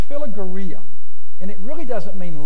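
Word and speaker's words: philarguria: look if it's a very strange word it's pronounced phila Gurria and it really doesn't mean love it means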